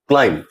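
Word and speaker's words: climb: इसी तरह से क्लाइम, यहां हम लोग क्लाइंब नहीं पढ़ते हैं क्लाइम।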